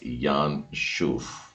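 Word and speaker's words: ינשוף: लिखा जाता है और इसका उच्चारण है यान शूफ। योद के नीचे आ की मात्रा, नून है, शिन है, उसमें ऊ की मात्रा डली हुई है और फाइनल फे डला हुआ है, लंबी डंडी वाला, यान शुफ।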